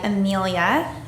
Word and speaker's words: Amelia: And that was done by Amelia. Did I say your name correctly? Thank you. Sorry? So if you wanted to come forward and say some words, we would appreciate it. Yes, you pronounced it right.